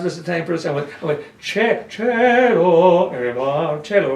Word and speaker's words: cielo: I went, "Cielo, cielo," right? She goes, "That's not right, it's cielo." I said, "No, it's my teacher said it's cielo," which of course is right.